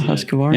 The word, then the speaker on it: Husqvarna: Did you say Husqvarna properly? Yeah, Husqvarna. Yeah, that's good. Because I have a hard time with that every once in a while, because it really is spelled funky. Because Q usually has a U after it.